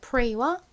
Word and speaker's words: pray: EY도 A 소리 나고 AY도 A 소리가 나죠.